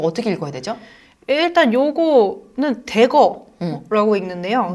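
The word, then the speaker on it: Dagger: 일단 요거는 대거라고 읽는데요.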